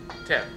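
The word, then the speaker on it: teff: a a grain called um small grain called te oh I'm sorry te te te yeah okay how you spell that t e FF t e FF okay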